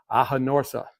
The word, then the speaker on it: Aganorsa: Now this is made by, and I may butcher how this name is pronounced because I'm pretty sure it's not how it's spelled, Aganorsa. It's Aganorsa. Aganorsa, I believe. You would think it would be Aganorsa, but this is, you're talking Central America, they don't pronounce it like that.